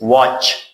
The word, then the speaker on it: watch: Like this is watch. Watch. T is silent.